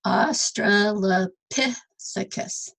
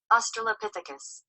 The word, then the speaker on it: Australopithecus: Okay, so it's Australopithecus. So the P is the strong syllable. And they actually have this little thing where you can... Australopithecus. Australopithecus.